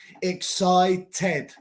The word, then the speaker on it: excited: Cualquier otra letra antes del ed pronuncia el D solo. Decided, D-E-D, decided. Excited, T-E-D, excited.